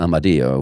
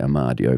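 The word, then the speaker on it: Amadio: with a Mario wines they actually pronounce it um I do which is the original Italian but English people say Omar do V thermo streets named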